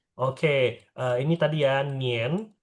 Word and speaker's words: 年: Oke, ini tadi ya Nien, bacanya Nien bukan Nian. Dia IAN jadinya IEN. IEN.